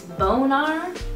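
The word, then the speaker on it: Bonegnar: It's Bonar, like boner, but it's spelled bone and then G-N-A-R, like gnarly, I think is what it's supposed to be like.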